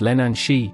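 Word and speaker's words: Leannán Sídhe: The Lenan Side, pronounced Lenan Shi, is a haunting and tragic figure in Celtic mythology, particularly in Irish and Scottish folklore.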